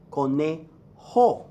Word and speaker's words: conejo: on nobody likes and return their cute el Conejo corn a not joe Cornejo connie ho y J gives you the exam Conejo la rana la rana en el elefante very